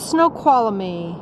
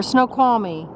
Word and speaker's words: Snoqualmie: digitalis we're getting down into snow koala me or Snoqualmie I always pronounce it wrong we are headed down into school call me and there's highway 90